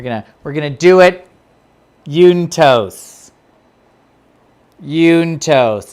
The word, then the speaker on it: juntos: we're gonna do it juntos juntos it's spelled with a j in case you wanted to know j-u-n-t-o-s yuntos okay ready christopher damn